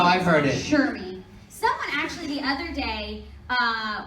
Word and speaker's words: Cherami: I was gonna say if nobody knows how to say it correctly, Cherami. I'm not going. Cherami. That's how I've heard it. Cherami.